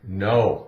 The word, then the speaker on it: know: So, keep in mind, the K is silent in words.